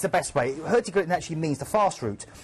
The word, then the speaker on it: Hurtigruten: right now on, well, I pronounce it Hurtigruten, but you pronounce it, how do you pronounce it? Well, my Norwegian ex-girlfriend always used to tell me off for saying that, and she'd go, Hurtigruten.